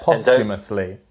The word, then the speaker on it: posthumously: It's posthumous, and the H is silent. Yeah, posthumously.